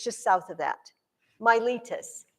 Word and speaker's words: Miletus: just south of that myelitis it's spelled exactly like it sounds m-i-l-e-t-u-s my litus which is really where